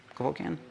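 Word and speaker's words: Cavoukian: um by Dr kokan was that what it was kokan I was pronouncing it wrong but so she developed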